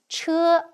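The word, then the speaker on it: 车: This is pronounced as che, meaning carriage.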